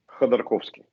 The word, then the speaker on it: Khodorkovsky: Khodorkovsky.